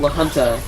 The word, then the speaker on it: La Junta: There's a city called La Junta, and it's spelled L-A space J. Yeah, and it's like, wait, what? Confusing.